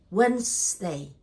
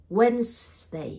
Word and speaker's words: Wednesday: Wednesday is a very tricky word. This is the trickiest one in this list because it looks like three syllables, but actually it only two syllables. We will say Wednesday. I'm here. Wednesday. I'm here. You can sound, you can hear two clapping, right?